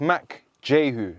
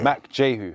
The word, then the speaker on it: Mack Jehu: It's not your fault because the way it's spelled, a lot of people. Yeah. So it's Mack Jehu. Yeah. Mack Jehu.